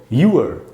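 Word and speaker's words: your: Actually इसका असली pronunciation है यूअर, तो वैसे हमको बोलना चाहिए।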